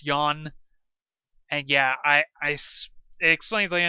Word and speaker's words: yuan: So, most common production cost 6 yuan, and yeah, it explains later in the game. It's spelled the unit of Chinese currency is spelled yuan, but it's pronounced as one syllable.